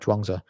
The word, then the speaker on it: Zhuangzi: It's called The Complete Works of Zhuangzi, but Zhuangzi is spelled here CHUAN space TZU, and this is the way, that's the Wade Giles romanization.